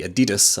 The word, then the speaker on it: Adidas: It is going to be the Adidas, or the Adidas as I pronounce it as a Scotsman, Supernova 3s.